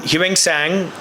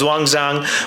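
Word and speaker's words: Xuanzang: This is one of the many many mahavaras when Huang sang or the proper pronunciations Wangzang when he came to India.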